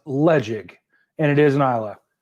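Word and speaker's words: Ledaig: So Ledeg is pronounced Ledeg, and it is an Isla.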